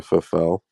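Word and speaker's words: Pfeffel: alexander boris the faf literally for fell because it's p f e double f e l that sounds perfect you could sound like a fellow or fulfilled yes i think i think it's a silent p johnson so in the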